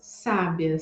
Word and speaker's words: sábia: é um traço distintivo se você observa essas três palavras sábia sabia e Sabiá percebe que nada além do acento em cada uma das sílabas é que vai trocar o significado de cada uma dessas palavras então em português nós